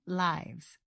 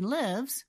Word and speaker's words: lives: noun we use the I sound cats have nine lives when it is used as third person singular we use the I sound she lives with her mother so in order to know which pronunciation to use for l i v e and s you want to look carefully at how it is used in a sentence please let us know